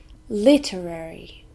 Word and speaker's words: literary: not safe or secure literary four syllables and we stress the first one literary this is an adjective